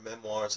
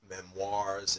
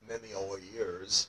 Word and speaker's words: memoirs: so it's actually pronounced memoirs. It's not pronounced memoirs or something like that. In French, when you get an O-I together, it has kind of what we call a wa sound.